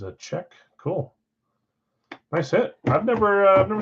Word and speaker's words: Olczyk: Not Olczyk. Is a check.